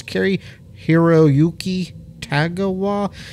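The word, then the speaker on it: Cary-Hiroyuki Tagawa: oh yeah that carrie i never say his name right it's carrie hiroyuki tagawa gosh he does a lot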